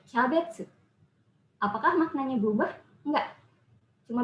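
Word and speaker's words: キャベツ: Cabbage itu kol ya, kembang kol. Nah itu kalau misal diucapkan cabbage, mengikuti cara baca luar, itu nggak akan tersampaikan juga. Maka diadopsilah sesuai dengan lidahnya orang Jepang. Jadi kyabetsu.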